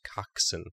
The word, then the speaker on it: coxswain: But it's pronounced coxswain. And I know this because my brother was a coxswain in high school.